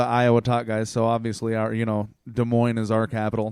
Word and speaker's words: Des Moines: I think there's definitely a bunch of sociopaths in Des Moines, too, because I think that sociopaths are disproportionately attracted to the profession, dare I call it, of politics.